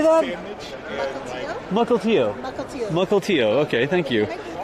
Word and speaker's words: Mukilteo: Mukilteo.